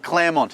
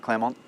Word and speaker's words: Claremont: Claremont at number 4. Never going to be bad. Female name at the start. Finished off with a nice Mont. Really important you pronounce the T, not Claremont.